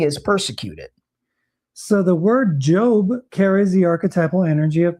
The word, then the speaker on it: Job: In this Hebrew tradition, in the book of Job, pronounced Job, J-O-B-E, is a story of a man who is tested by God and Satan.